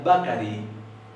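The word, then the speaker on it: bakarí: a cariño significa panadero y esto se pronuncia bakari y significa panadería este es un par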